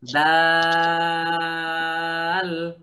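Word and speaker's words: دال: যে তা পড়ছিলাম না তা যেখান থেকে উচ্চারণ হয় দালও সেখান থেকে উচ্চারণ হয় জিহ্বার আগা জিহ্বার আগা সামনের উপরের সামনের দুই দাঁতের গোড়া সঙ্গে লাগাইয়া সঙ্গে লাগাইয়া সবাই জোরে বলেন হুমায়রা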